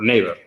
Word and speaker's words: Naver: lo que utilizan es Naver, o Naver, es como lo pronuncian, como si fuese en inglés, ¿no?